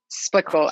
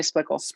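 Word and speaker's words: Splichal: How do you pronounce her name? Splickle, Emily Splickle.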